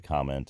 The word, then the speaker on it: comment: comment is the comment the verb like I am going to comment on your content that always is pronounced comment and so is the noun your comment your comments are welcome that's that's always pronounced with the initial syllable stress and this phenomenon um